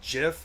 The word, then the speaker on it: GIF: The creators of gif did say you're supposed to pronounce it as gif as in jify eons's inherently correct.